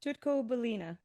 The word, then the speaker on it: Tutko-Balena: So, can you actually pronounce it? Sure. Tutoco Balina.